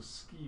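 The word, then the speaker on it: sgìth: It's pronounced ski. Right, so it's not even close, it's kind of vaguely close, but again, work with the sound. So ski, what do you think of when you see ski?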